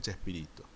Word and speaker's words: Chespirito: y tú disminuido que después de haber castellanizado su pronunciación termina por convertirse en chespirito que es como él